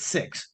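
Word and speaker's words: Sicks: like the Wyatt now Wyatt 6 is spelled SI i c KS six um and I think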